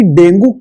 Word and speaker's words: dengue: वो है problem डेंगू की। हम लोग डेंगू बोलते हैं, वैसे इसका प्रोनाउंसिएशन होता है डेंगी।